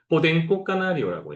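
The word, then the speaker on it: Podenco Canario: 참고로 이 종은 스페인어로는 뭐라고 얘기하냐면 포덴코 까나리오라고 해요.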